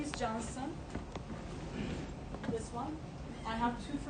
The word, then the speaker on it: Johnson: again confusing probably you will tend to say cancer no it's Johnson because Turkish and in Turkish we expel C as June but it's like the baby powder okay baby powder Johnson & Johnson pronunciations like that okay